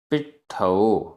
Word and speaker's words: पिट्ठो: पिट्ठो आधा ट ठ, पिट्ठो।